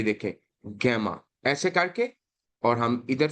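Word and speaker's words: gamma: है उसके बाद ओके गामा इसको ही लोग इसको गैमा पढ़ते हैं गैमा नहीं गामा गामा और गामा और इसको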